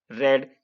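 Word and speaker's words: read: अब इसका बनाओ इफ यू रेड। ध्यान रखना ये रीड की सेकंड फॉर्म है और ये तीनों एक ही होती है, तो इसको रेड बोलते हैं, इसका प्रोनाउंसिएशन।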